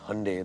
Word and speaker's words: Hyundai: Hyundai, they told me, like Sunday. We obviously pronounced it as Hyundai.